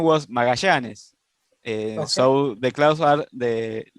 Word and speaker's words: Magallanes: Well, the name was Magallanes.